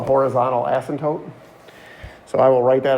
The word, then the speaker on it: asymptote: right so asymptote that's a-s-y-m-p-t-o-t-e and the p is silent so it's asymptote and then the other